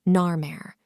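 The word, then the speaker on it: Narmer: phonetically representing the name nare the first shape is that of a catfish pronounced Nar and the second is that of a chisel pronounced m in ancient Egyptian this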